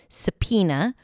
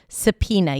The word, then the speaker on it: subpoena: for the first time, you probably didn't imagine that there is a B and an O in this word. Subpina. Subpoena is a written form ordering a person to attend a court. I'm going to subpoena you. So you can use it as a verb or I received a subpoena and then it functions as a noun. How efficient. Subpina. You start with an s sound then awa sa then p as pizza.